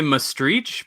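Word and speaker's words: Maastricht: it which is great so I say must reach because that's kind of like the like using the CH at the end because that's kind of like the local pronunciation they have their own dialect as well and yeah so but I think most people will notice mus tricked okay right and they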